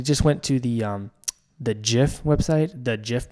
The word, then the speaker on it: GIF: we don't since because we say it as if it's just a word jiff it applies to the signals yeah the same rules of the English rules applied to it so and the English rules say it's a jiff so yeah let's go